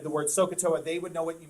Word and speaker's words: SOH CAH TOA: Okay, I'm going to spell it for you. That's an H. Sohcahtoa is how you say that. Sohcahtoa.